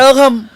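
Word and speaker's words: கழகம்: इंग्रजी spelling Z लिहितात तिथे अनेक लोक कन्नी मोळी यांचा स्पेलिंग कन्नी मोझी असं ते वाचतात लोक पण तेझेड हा ल साठी त्यांनी काढलेला आहे की हा झेड आहे हा तुम्ही ल म्हणून वाचावा कळगम कळगम स्पेलिंग के एझेड ए जी एम आहे कजगम तिथ लोक वाचतात करतात ना प्रयत्न हो उच्चार वेगळा आहे हे सांगायचा प्रयत्न तरी करतात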